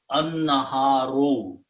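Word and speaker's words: النهار: So noon is a shamsi letter. So lam will not be pronounced. So it will pronounce an-naha, and al changes to the mas to one. So it becomes an-naharu.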